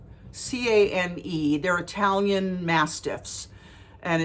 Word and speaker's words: Cane Corso: Cane Corso, C-A-N-E. They're Italian Mastiffs, and it's pronounced Cane, and then Corso is C-O-R-S-O.